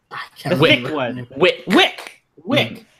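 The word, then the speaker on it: Wicke: Wick. Because it rhymes with thick.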